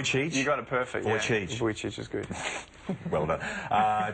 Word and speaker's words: Vujicic: you so much for coming in am I'm pronouncing it right voy voy you got it perfect vo voy is good well done uh to me uh